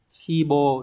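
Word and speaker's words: 志望: ta sẽ loại được 1 nhá số hai đọc là sibo đúng rồi và mang nét nghĩa là ứng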